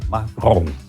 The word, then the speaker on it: Macron: Bom, o Macron, o sofisticado fala assim, Macron, que é a pronúncia mais sofisticada francesa.